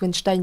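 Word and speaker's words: Weinstein: cinéma Harvey wnstein et me dites pas n ça se prononce wenstein parce que pour une fois j'ai regardé la prononciation sur Internet wnstein donc l'un des producteurs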